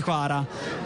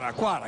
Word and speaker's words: Kvara: lasciato intendere ai tifosi: chiamatemi Kvara, così non c'è problema. Quara, chiamatemi Quara.